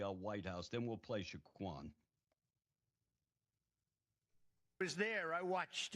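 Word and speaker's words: Saquon: Shaquan, is that right? Yeah. Shaquan Barkley.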